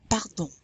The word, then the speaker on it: pardon: Pardon. That's also a dry R. It's very light.